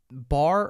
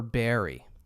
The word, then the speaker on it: barre: all right so um bar or Berry bar four everybody thinks that it's called the salt Berry because but it's really the salt bar um bar is a